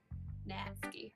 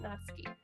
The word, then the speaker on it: Natsuki: Yeah, I'm gonna go for Natsuki. Natsuki. That's really not how you say it. I'm so sorry. I'm such a... I can actually speak, JP. It's Natsuki.